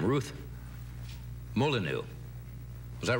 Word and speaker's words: Molyneux: And, I probably will mispronounce this name. Ruth Molyneux. Was that right, Ruth? Molyneux? Molyneux.